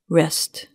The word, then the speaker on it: wrest: Rest.